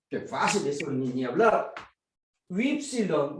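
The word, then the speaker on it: ὖ ψιλόν: Ypsilon. Mucha gente se pronuncia U, pero no es U, es oui, como el francés.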